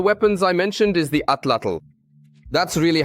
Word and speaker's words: atlatl: Perhaps the strangest of the weapons I mentioned is the atlatl. That's really how it's pronounced.